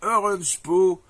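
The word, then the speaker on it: Oranjepoes: alors attends ça c'est Orange po alors ce garsl il s'appelle orange po alors ça s'écrit o R a n j e P o e s et il vous fait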